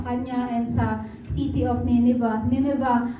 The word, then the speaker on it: Nineveh: Amen po sa kanya and sa city of Neneva. Niniva. Alam niyo po ginogle ko po yun paano i-pronounce yung Niniva. Pina-pronounce ko po yun kay Google. Niniva daw ang pronunciation.